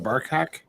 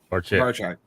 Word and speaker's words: Barchak: How do you say his last name? Barkhack? Barcheck. Barchak. That's right.